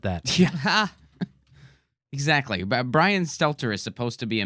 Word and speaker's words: Stelter: Bryan Stow that's how you say his name Stelter I would always say Setzer yeah I always think of that to Brian